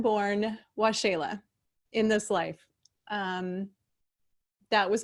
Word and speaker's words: Waxela: So, wa-shay-la, W-A-X-E-L-A, pronounced W-A-S-H-A-L-A-Y. Something like that.